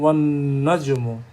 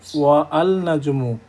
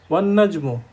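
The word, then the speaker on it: وَالنَّجْمُ: পরের পয়েন্টটা, both Alif and লাম and alif lam are not pronounced when a word starts with a solar letter and is preceded with another word. যেমন আমরা বলছি ওয়ান নাজমু, ওয়ান নাজমু, অর্থাৎ আলিফ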